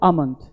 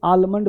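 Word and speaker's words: almond: तो ब्रिटिश के फॉलो होने के कारण हम लोग बोलते हैं आमंड, आमंड, आमंड। लेकिन अभी करंट में अमेरिकन, देख रहे हो, अमेरिकन के जो फॉलोअर है, अमेरिका, ठीक है ना, अमेरिकन जो फॉलोअर हैं वो कभी कभी आलमंड बोल देते हैं, आलमंड ऑयल, ठीक है? लेकिन आपको बोलना है आमंड ऑयल, आमंड ऑयल।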